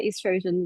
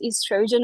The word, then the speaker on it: estrogen: They're affecting yeah estrogen yes. Uh we we either refer to it as estrogen or estrogen they're both the same. Um it's just British and American pronunciation difference.